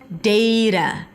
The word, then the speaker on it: data: Data. Data. You can also say data and then use the A as in father sound, but still make sure it's a flap T.